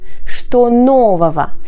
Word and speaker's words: что нового: Что нового? Attention à la terminaison ого qui ne se prononce pas de cette manière-là.